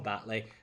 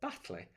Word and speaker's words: Batley: So I think it would help if people from Batley pronounced their T's and said Batley, because then that sounds really posh. Batley does not sound as posh.